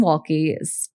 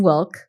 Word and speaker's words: Wilke: Brian Wilke, I guess the E is silent. Brian Wilke was one of his students there, and Chef Dan apparently made a lasting impression on him.